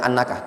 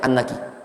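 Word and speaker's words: أنكِ: Itu afan tadi ana bacanya annakah tapi bacanya annaki. Ya, karena di sebagian nuskha itu dianggap muannas batu hajar.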